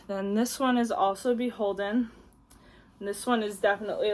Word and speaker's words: BHLDN: brand which is definitely a bolo this is pronounced beholden and it's actually anthropology's like Formal Wear line